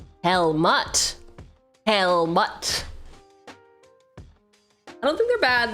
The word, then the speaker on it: Helmut: Helmet. The U is pronounced. Helmut.